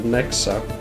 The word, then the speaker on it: Nexa: This theme and its character is called Nexa, which rhymes with hexa, which is Swedish for witch.